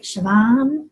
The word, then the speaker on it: Siobhan: All right, Siobhan. Did I say it right? Yes!